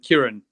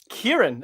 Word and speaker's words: Kiron: out here right so uh Kieran Kieran okay Kieran yeah you pronounced it probably better than it did actually uh than I did it's got an O at the end there but yeah Karen uh